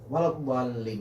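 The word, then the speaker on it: وَلَا الضَّالِّين: Walabbalin itu bacanya cuman satu kali tasydid, artinya di situ lamnya cuma dua, balin. Jadi saat kita baca terlalu lama walabbalin itu lamnya sudah 3, 4 ataupun lebih.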